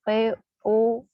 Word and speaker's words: poser: Contohnya kemarin misalnya, ya, ada kata dengan transkrip POSER. Ya, saya menjelaskan kepada kalian bahwa jika ada huruf S yang berada di antara dua bunyi vokal, dia akan dilafalkan z, sehingga kata tersebut dibaca pose.